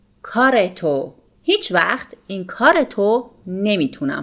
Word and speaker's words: کارتو: Note that again here, رو comes after a consonant, which is a T sound here. So, in spoken Persian, we pronounce it کارتو. کارتو.